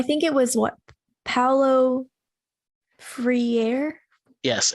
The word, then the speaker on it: Freire: I think it was, I think it was what, Paulo Freire? Yes, it's Friere. Freire.